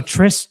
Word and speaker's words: Tris: Tris.